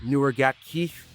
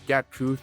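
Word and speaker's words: Nuer Gatkuoth: A guy whose agent told me his name is actually pronounced Newer Gat Keith, not Gat Kuth, not Gat Kuoth, like a lot of the ESPN announcers have mentioned.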